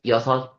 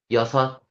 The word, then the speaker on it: 여섯: Or we try to say as 여섯, 여섯, 여섯. Okay, let's try to repeat after me. 여섯.